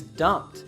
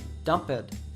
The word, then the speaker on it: dumped: the simple past as dumped not dump it however if you pay attention here we can't hear that t sound at the end of dumped why do you think